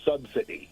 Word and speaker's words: subsidy: And one other thing for the people in the South there is no T in the word subsidy. It's subsidy, not subsidy.